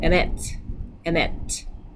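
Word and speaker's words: אמת: Because this got, because it's got the schwa with it, so the accent then moves over to the final syllable, like the regular pattern. So emet, truth.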